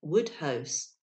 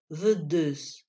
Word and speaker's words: Woodhouse: to whom he referred laplace varied the pronunciation by calling him the deuce the first word being pronounced as the french word vu and the second as the english word juice upon further explanation it turned out that laplace meant to speak of a work published by woodhouse whose name is in the pronunciation of the french so very like vudus fourier and bio poisson